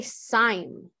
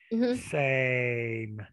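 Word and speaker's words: Seym: okay go ahead so my last name is pronounced same and it's spelled s-e-y-m why but people say sign i'm not sure why they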